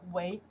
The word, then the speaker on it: 为: This character we pronounce the way 以为, the second tones, right?